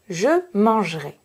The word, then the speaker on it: mangerai: Ici, vous observez que j'ai deux consonnes avant mon E, mais j'ai une seule consonne prononcée, le J. Mon N appartient au son voyelle en. Je peux donc supprimer le E.